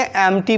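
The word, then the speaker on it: empty: इसलिए इस कंडीशन में ये पी का उच्चारण नहीं होगा और इसे हम लोग क्या पढ़ेंगे, एम्प्टी पढ़ेंगे।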